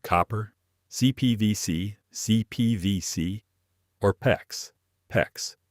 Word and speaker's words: PEX: PEX rhymes with flex.